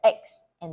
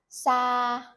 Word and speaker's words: xa: So in the north, we pronounce the X and the S exactly the same. So, for example, xa, far, xa.